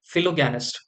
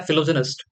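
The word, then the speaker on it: philogynist: फिलोगैनिस्ट। ठीक है, वैसे इसका प्रोनाउंसिएशन होता है फिलोजेनिस्ट। ठीक है, फिर भी हम इसे फिलोगैनिस्ट के नाम से याद कर लेंगे।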